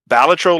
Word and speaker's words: Balatro: saying it right B balro so yeah the developers actually came out and said it comes from I think it comes from Latin right so it's supposed to be batro like the intonation starts